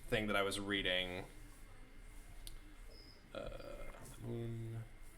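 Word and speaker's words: al-Ma'mun: Mamun, not H. No H.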